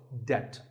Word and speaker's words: debt: find yourself in debt the b is silent in this word so debt if a debt is